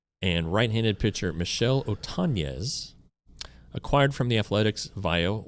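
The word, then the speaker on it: Michel Otañez: Willie MacGyver and Michael Otanz pronounced Michelle Otanz acquired from the Athletics via waiver claim.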